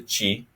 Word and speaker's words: ci: You is changed to chi.